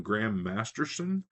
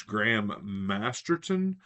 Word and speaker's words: Graham Masterton: always mispronounced his name I always put an S in there instead of the T I always called him Graham Masterson and it's Graham masterton but I got a